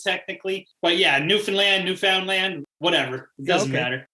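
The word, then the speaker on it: Newfoundland: is it Newland yeah here we say like newfinland so it's like sounds like New Finland but it's not it's new found land is technically but yeah New Finland new found land whatever it doesn't matter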